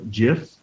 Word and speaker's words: GIF: also download as a gif or GIF depends how you say it a PNG file jpeg